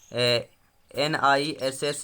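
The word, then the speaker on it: gneiss: दूसरा प्रश्न प्यारे मित्रों आपकी स्क्रीन पर है कि नीस, या जिसे हम NISS, यहाँ पे जी साइलेंट रहेगा आपका। तो नीस चट्टान जो होता है इनमें से किस कोटि का कहलाता है?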